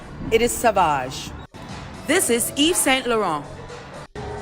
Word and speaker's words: Sauvage: This is not pronounced Savage, it is Sauvage.